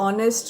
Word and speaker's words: honest: तो honest में हमारे पास H की sound silent होते हुए O की sound आती है. तो the word start with consonant, but it gives you an vowel sound because H is silent.